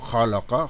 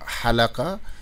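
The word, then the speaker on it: خلق: et Ha, alors que si vous prenez rien que le mot Khalaqa, Khalaqallahu samawati wal ard, eh bien si vous prononcez mal en disant Halaqa, eh bien ça va changer complètement le sens parce que Khalaqa veut dire créer tandis que Halaqa veut dire raser.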